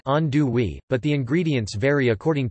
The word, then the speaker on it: andouille: The classic gumbo is made with chicken and the Cajun sausage called andouille, pronounced andouille, but the ingredients vary according to what is available.